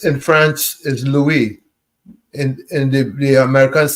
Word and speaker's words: Louis: Well, L UI S in France is Louie in and the the Americans say Lewis. But but Louis, L UI S is what? Lou. Lou. Right. Louie. Right. Because the S is silent.